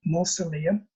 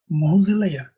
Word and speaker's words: mausoleum: I pronounce it with S or Z, mausoleum, mausoleum.